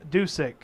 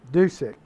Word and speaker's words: Dusek: play all right so number 10 is pronounced sam dusek dusek appreciate that guys thank